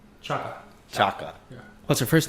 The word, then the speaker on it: Chaka: Can you pronounce her last name? Chaka.